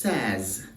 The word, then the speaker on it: says: pronunciation of this word now this word is says says says and lot says not says but says he says she says it